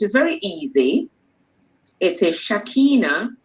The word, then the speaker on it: Shakina: So let me help you with the pronunciation, which is very easy. It is Shakina.